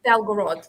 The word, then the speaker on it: Belgorod: Oh no, Sorry, no, it's my it's pronunciation. it's Belgorod, because Belgrade.